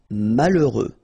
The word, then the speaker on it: malheureux: H doesn't exist. Okay, so you get mal. E. Heureux. Final X not pronounced. Malheureux.